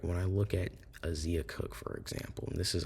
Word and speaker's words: Zia Cooke: and editing this video, it's Zia Cooke, not Zea Cooke.